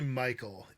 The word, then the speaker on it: Mical: last name right uh it's actually Michael yeah name yeah it's okay for ages it's all good it's all good everyone says it wrong so don't sweat it Michael is here hello and